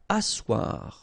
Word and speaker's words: asseoir: Asseoir, okay, remember you've got this beautiful but then phonetically doesn't exist. Asseoir, remember double S here, it's really strong s, really strong S, okay, so asseoir.